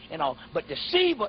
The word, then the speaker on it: Shiva: Yeah, it's S-I-V-A, but it's pronounced Shiva.